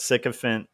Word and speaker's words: sycophant: But I also liked the fact that sycophant rhymes with elephant.